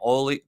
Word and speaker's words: Olli: As you know, I also wrote a story on Olli Määttä, as he pronounced it, by the way.